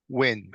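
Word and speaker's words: Huynh: okay what's your name win it's spelled t o n g last name is spelled h u y n h okay who else is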